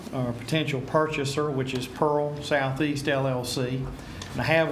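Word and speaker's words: PIRHL: This company, is spelled P-I-R-H-L, but it's pronounced Pearl.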